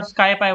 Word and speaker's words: SciPy: NumPy means numeric Python, and there is one more library called SciPy or SkyPy, whatever you want to pronounce it.